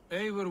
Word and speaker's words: Eivor: Eivor will handle it. Go on. See, I pronounce it Ivor, and they say Eivor.